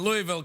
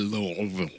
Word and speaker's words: Louisville: All right, this is from Antonio in Louisville, Kentucky. You ever been? Oh, you can't. You know, you don't say it like that. You say. You ever been to? I have been to Louisville.